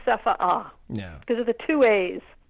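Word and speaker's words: CEFAA: governments agency right that's correct it's actually they pronounce it seha a okay which is s of strange to us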